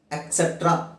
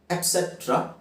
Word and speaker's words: etc: ಹಾಗೆ ಮುಂದಿನದು ಎಟ್ಸೆಟ್ರಾ ಅಂತ ಹೇಳ್ತಾರೆ, ಅದು ಸರಿಯಾದ ಉಚ್ಚಾರಣೆ ಅಲ್ಲ. ಎಟ್ಸೆಟ್ರಾ ಅಥವಾ ಎಟ್ಸೆಟರಾ ಅಂತ ಹೇಳ್ಬೋದು. ಎಕ್ ಅಂತ ಹೇಳೋಗಿಲ್ಲ, EK ಅಥವಾ EC ಅಂತ ಹೇಳೋಗಿಲ್ಲ. ETC ಎಟ್ಸೆಟ್ರಾ easy.